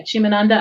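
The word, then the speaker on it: Chimamanda: So it looked it's Chimananda. Shimananda. Yeah, Chimananda Adichie. Shimananda.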